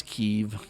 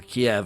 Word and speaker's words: Kyiv: There's Kiev or Kyiv or however you want to pronounce it.